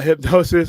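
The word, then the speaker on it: Hipgnosis: hardle uh dude hip it's hypnosis but it's spelled all up uh hypnosis had uh designed several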